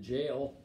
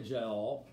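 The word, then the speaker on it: Jael: woman named jahal we i always pronounce it jail j-a-e-l jail as a child but it's really jowl and she gives him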